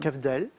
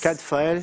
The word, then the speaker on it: Cadfael: Cavdale. Redites? Cavdale. Ah oui, c'est ça. En fait, c'est 2 consonnes qui s'intervertissent. Cadfael. C'est Cadfael.